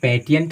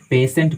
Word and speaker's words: patient: ठीक है, इसका एग्जाम्पल आपको देते हैं PATIENT, आप इसको पेटिएंट नहीं पढ़ते हैं, आप इसको पेशेंट पढ़ेंगे, पेशेंट।